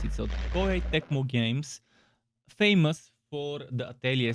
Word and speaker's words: Koei Tecmo: made a post to make sure i don't mispronounce it so koi tecmo games famous for the atelier series also for